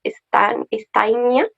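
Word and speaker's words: Stajnia: ¿Puedes pronunciarlo tú por mí, por favor? Steinia.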